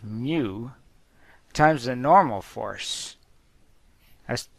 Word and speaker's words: mu: this funny symbol pronounced mu. It's a Greek letter, it's pronounced mu, times the normal force.